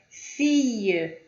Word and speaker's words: fille: Fille, fille, é como se tivesse um Y em vez de dois L's.